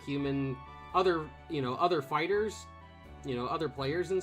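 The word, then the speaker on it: FighterZ: i would like um it's fighters fighters or fighter z what i don't i don't know i don't care they like i've heard it pronounced both ways um it it doesn't really matter uh it's fighters but it is stylized as fighter z um but like when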